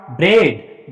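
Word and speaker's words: bread: जब ई के तुरंत बाद ए आता है तो ए साइलेंट रहता है, ए का प्रोनाउंसिएशन नहीं होता। अब यहाँ पे इसको क्या पढ़ोगे बेटा, ब्रेड।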